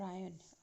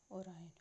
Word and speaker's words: Orion: with the orion belt orion constellation or iron it is called orion okay excuse me for